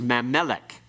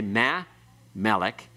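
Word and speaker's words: מַה־מֶּלֶךְ: You don't have any accent on ma because the accent comes on meh. It's pronounced all together quickly. You don't say ma, melek. It's mamelek. It's pronounced as one word.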